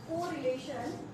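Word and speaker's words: Karl: The first one, जो पहला है वो है हमारा कार्ल यानी CARL, यहाँ पे R साइलेंट है तो वो वाला कार्ल, नॉट कार्ल।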